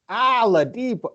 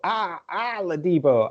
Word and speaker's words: Oladipo: I have a problem with the way Ken says Oladipo. He says Oladipo. Oladipo. It's Oladipo.